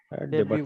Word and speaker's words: debut: डेब्यूट movie. Debate. डेब्यू बाबू. डेब्यू. Debut. DEBU. T silent है. T silent.